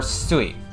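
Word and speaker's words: すい: uh two different ways it's pronounced Mizu or sui right so that kanji is sui so Mizu is the Japanese way to say it so that's how Japanese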